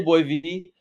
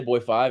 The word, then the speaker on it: Boy (V): I say Boy V. Okay. Some people will say Boy 5 and, like, that looks cool, so I don't care, but it's Okay. Boy V.